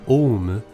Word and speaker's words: Aum: Al in English but the first part of the name is spelled and pronounced om in Japanese I'll be using this pronunciation throughout the video the story of om shinriyo is very much